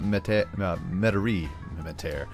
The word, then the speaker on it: Metairie: When I start putting some low density residential over here to fill up Metairie, I was told that I was saying that correctly, and I was like, big win for Diesel.